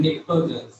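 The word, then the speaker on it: nitrogen: नहीं नाइट्रोजन है, निट्रोजन, ठीक है ना, टी साइलेंट रहेगा।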